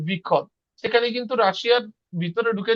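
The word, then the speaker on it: выход: আর বিখদ। বিখদ এখানে কি? এখানে যে ভ্যাটা এটা উজ্জ থাকে, তো এখানে উচ্চারণ হয় কেমন?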